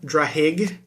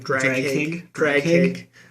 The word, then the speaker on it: Draghig: When Drahig, or I don't even know how to pronounce this, like Draghig. Maybe the G is silent. It's just Drahig.